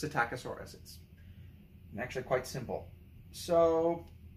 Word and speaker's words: Psittacosaurus: learn and then I learned that the P was silent and it's just satac aaur Ence actually quite simple